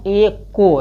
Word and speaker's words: echo: एको यानी इसको क्या करना है, एको, यानी यच को ईचो मत पढ़ना है, एचो मत पढ़ना है, इसको क्या पढ़ना है, एको पढ़ना है, यच साइलेंट होगा।